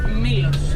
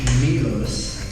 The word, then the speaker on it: Milos: the correct way to pronounce that island Milos or Milos? Milos.